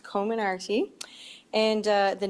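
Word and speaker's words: Comirnaty: their first dose of the pediatric phasor bioentech commonarty vaccine covid19 vaccine and somebody was asking me how to pronounce it the other day and uh and i actually looked it up and it is pronounced co-minardi and uh the name actually comes from several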